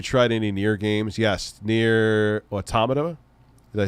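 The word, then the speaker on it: NieR: Automata: you have you tried any near games yes near automata did I say it right yes you could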